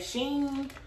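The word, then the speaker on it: SHEIN: if that's how you say it but that's how i say it don't get on here saying sheen sheen i don't care until they personally write me their self and tell me how to pronounce it is she in how about that okay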